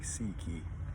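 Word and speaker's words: ψυχή: then uh Psy piki in Greek you pronounce it sounds like Seiki so this is the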